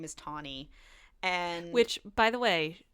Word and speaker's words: Tawny: And I knew somebody whose name was Tawny, but like Tani, which is a name like Tawny. But this is Tawny. Tawny, like the color.